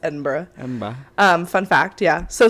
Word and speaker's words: Edinburgh: That's how it's spelled, but it's pronounced Edinburgh.